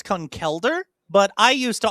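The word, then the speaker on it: Conkeldurr: but I used to always call it conquer myself until I heard that the uh I've heard anime and official sources say concelder. So I'm like oh that's how the brand wants it pronounced.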